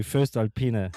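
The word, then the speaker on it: voestalpine: So, um I don't know how you pronounce their name, Vostalpina. Um, uh, their sales reps are super useful. It's an Austrian company. First Alpena.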